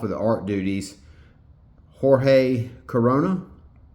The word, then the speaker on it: Corona: And even though Daniel Warren Johnson is off of the art duties, Jorge Corona, I want to say that's pronounced like the beer, has been a very suitable replacement for Daniel Warren Johnson.